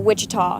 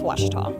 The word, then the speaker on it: Ouachita: University back in Texas everybody pronounces it witch but really it's wash wash was how would